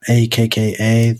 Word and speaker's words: Akka: systems because I know there's acha acha I pronounce it akka there's that one and